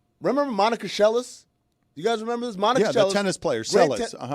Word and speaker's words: Seles: was just a crazy fan, and it wasn't Seles, by the way, Dan. Way to hold your ground. I'm proud of you. It's Monica Seles.